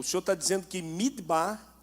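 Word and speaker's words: מדבר: isso mas a palavra deserto em hebraico é midb midb midb aí as letras re o v que pode ser também pronunciado como Bet o dalit e o Men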